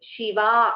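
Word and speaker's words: शिवा: The first one is Shiva. The second Shiva is Shiva. A Dirgha is there.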